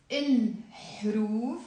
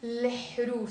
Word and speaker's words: الحروف: Now, then I wrote here the word il-hruf, but I like to pronounce it l-hruf. So whenever you have an alif lam, so the alif lam here, as you can see, it's il. Okay. I like to pronounce it l-hruf, kind of like you're flipping the pronunciation around.